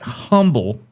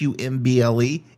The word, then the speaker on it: Humble: You don't say it's not Humble, even though it's spelled H U M BL E, it's Umble, Texas.